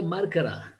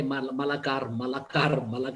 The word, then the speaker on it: Markar: And then So you're welcome, my brother, Markara. My wife always, mispronounce Malakar, or something like that. But he's a Markar. So he's a Markar Viraha.